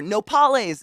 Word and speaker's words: nopales: Nopales. That's the word I was looking for. Nopales. Is that how you say it? Yes, nopales is the cooked cactus leaf.